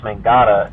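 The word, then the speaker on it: mångata: correct pronunciation it's but it's very much just like it sounds it's just mangata and what mangada means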